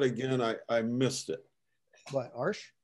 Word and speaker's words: Arches: Excuse me, could you spell that again? I missed it. What, Arch? A-R-C-H-E-S.